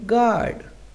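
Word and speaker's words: guard: पहले डॉ रहेगा साइलेंट कुछ वर्ड ऐसे होते हैं जिम यू तथा व आए तो दोनों साइलेंट रहते हैं जैसे गार्ड अब इस हम वर्ड में देखें तो हमारा यू ए रहा है तो वो साइलेंट रहेगा तो हम इसे क्या पढ़ेंगे गार्ड गैस मेंस अनुमान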